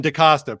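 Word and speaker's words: DaCosta: to nelson so nelson decosta pretty easy to pronounce it's costa and there's a da in front of it yup he's he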